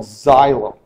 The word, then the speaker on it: xylem: to talk about are cells or tubes called xylem that's how that's pronounced you'll notice in this picture on the